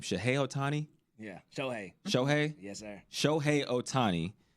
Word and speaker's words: Shohei: How do you pronounce his name? Shohei Otani? Yeah, Shohei.